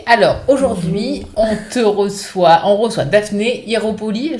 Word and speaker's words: Ieropoli: Bonjour Daphné, alors aujourd'hui on reçoit Daphné Hieropoli, je le prononce bien? Ouais, Hieropoli, ouais. Hieropoli, super.